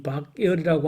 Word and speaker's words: 박열: 일본의 변호사였는데, 아까 제가 도중에 박열, 일본 사람들이 자기들 발음으로 박구여루라고 하는 이 박열이라고 하는 사람이 일본에서 재판받을